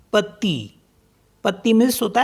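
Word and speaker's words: petit: मनवी मनवी मतलब मिडनाइट तो लास्ट का टी साइलेंट हो गया ऐसे ही पी ई टी आई टी पति पत्ती मिस होता है लिटिल नेक्स्ट वर्ड है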